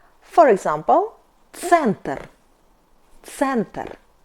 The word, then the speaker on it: центр: C sound C is like C in pizza. For example, center, center.